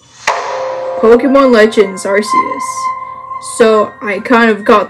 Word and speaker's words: Arceus: you marcias oh no don't suck me in artheus pokemon legends arceus so i kind of got the name wrong so i'm supposed to say pokemon art